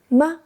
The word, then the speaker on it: 吗: The pronunciation is short, light, soft, exactly like the second ma in mommy.